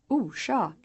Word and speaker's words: orsak: The rush sound is pronounced when the letter S follows an R, as in the words orsak, kors, and Lars.